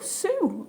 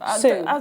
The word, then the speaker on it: Sioux: Oh, Sue. Sue in Cumbria. As in, yeah. S-I-O-U-X. Sue. Is that... Yeah. Is it American for Sue? Because Native American. The Sioux Indian.